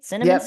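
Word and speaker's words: Cinnaminson: Did I pronounce that right? Cinnamonson?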